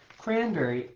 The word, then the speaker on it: cranberry: Cranberry, I would say, is cran-berry, right? One sound plus, sorry, sound, one syllable, and then two syllables together. Cranberries. It's determined by where the emphasis is in the word, right?